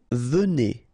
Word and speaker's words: venez: Vous venez. Okay, so a Z at the end combine will give you the sound E, and here you've got venez.